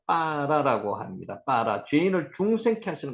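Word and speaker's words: בָּרָא: 창조하시니라를 빠라라고 읽었습니다. 아까 경강점 배웠죠? 경강점 여기 점이 찍혀 있으니까 바라라고 읽는 것보다 실제는 발음이 빠라라고 읽는 게 제일 정확하다 이렇게 말씀을 드렸습니다.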